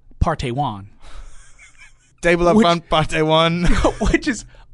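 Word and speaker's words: Park Tae-hwan: It's Park, P-A-R-K. Right. T-A-E H-W-A-N. It is pronounced Partey Wan.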